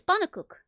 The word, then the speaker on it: pannenkoek: Oh, that's true, but everybody pronounces his name incorrectly. People keep like having like a weird pronunciation. It's pannenkoek, if you want to.